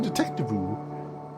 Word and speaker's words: Detectivu: Yes, Kev Tom, that is the actual name of the game, because it rhymes that way. Jenny LeClue, Detectivu.